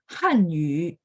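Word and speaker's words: 汉语: Kalau nada bahasa Mandarin itu nada 4, kalau Korea itu Han nada 2.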